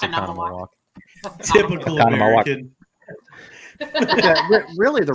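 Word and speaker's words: Oconomowoc: It's a Connemawalk. Is it? Oh, sorry, Akanamawak. It is. It's a Connemawalk. But it like the way it's spelled looks like the way Susie's saying it, but it's pronounced Connemawalk.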